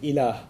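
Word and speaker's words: إله: la ilaha illallah, in which there's the term ilah. If you want to write that in English, it would be I-L-A-A-H, ilah. It's pronounced pretty easy to pronounce in English, okay?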